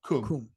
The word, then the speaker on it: Qom: Qom, the religious capital of Iran. Qum. Chewing Qum. It's spelled Qum, right?